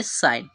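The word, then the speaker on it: sign: हम बनाते हैं ना लास्ट वाला जो ई हमारा होता है वो क्या रहता है ज्यादातर साइलेंट रहता है तो यहां पर ई जो होगा साइलेंट रहेगा ठीक है तो इसे हम क्या पढ़ेंगे साइन इसका प्रोनंसिएशन क्या होगा साइन होगा ठीक है तो साइन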